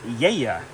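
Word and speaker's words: Gaia: This is pronounced Yeya. So Yeya Estate Monograph, not Assyrtiko, Moscofilero.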